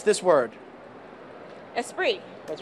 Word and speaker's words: Esprit: right okay let's take a look can you pronounce this word esprit that's right what is what do you know